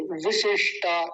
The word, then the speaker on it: विशिष्टा: अगला देखिए विशिष्टा, इस पर तो बड़ा ध्यान देना था। दोनों छोटी की मात्राएं हैं तो जल्दी बोली जाएंगी। विशिष्टा लंबा नहीं खींचेंगे, पहली बात।